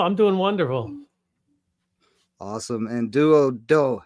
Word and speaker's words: Duodo: First, it's not Spike, and I just said their name wrong. So Clementine, Santiago, and the name of the group is Duodo. Duodo.